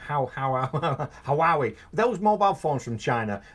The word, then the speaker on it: Huawei: Huawei. Those mobile phones from China. It's got H and a U in it, but I don't think you say it. Huawei.